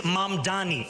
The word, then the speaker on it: Mamdani: And furthermore, the name is Mamdani. M-A-M-D-A-N-I. You should learn how to say it because we got to get it right.